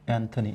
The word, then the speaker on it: Anthony: anthony a-n-t-h-o-n-y good so you know how people pronounce this word anthony anthony and anthony quinn it is anthony so the sentence was